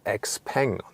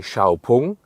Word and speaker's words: XPeng: that the lettering of x-pang the outside and so on and the name like the pronunciation x-pang is just used internationally inside China and I say xiaopung and they just use